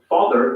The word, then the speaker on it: father: Notice that the final R sound is not pronounced in British English. Father ends in a simple schwa vowel, like father.